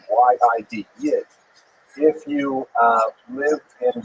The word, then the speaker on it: Yid: Yid means Jew, so that's a Lithuanian pronunciation. Y-I-D, Yid.